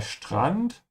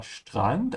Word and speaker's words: Strand: Der Strand is the beach. Remember to pronounce the ST like sh. Ja, Strand. And open your mouth on the A. And, not and. Ja, Strand.